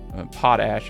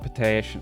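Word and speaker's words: potash: of coal and uh pot ash I guess is the right way to say that. I keep calling it potach. I'm probably continue to do so even though I know the correct way.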